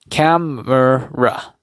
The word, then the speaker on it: camera: Just like mer, camera. So you have, this is gonna be broken down into 3 syllables.